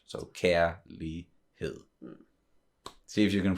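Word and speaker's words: kærlighed: the word like uh the g is silent so that's the that's why you don't go care leak head you know exactly and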